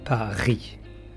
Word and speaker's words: Paris: Attention, on ne prononce pas le S et on dit Paris.